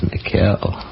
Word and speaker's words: Mikhail: That's Michael Hillman? It's Mikhail. We've been pronouncing it wrong.